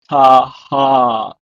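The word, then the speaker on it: תַּחַת: And finally, the word under or beneath is pronounced in Hebrew as taha, taha.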